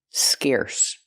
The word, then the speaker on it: scarce: Pronunciation, use the air sound like hair and chair. Scarce.